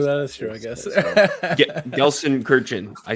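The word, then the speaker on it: Gelsenkirchen: German knowledge true that is true I guess gson Kirin I said it right this time I learned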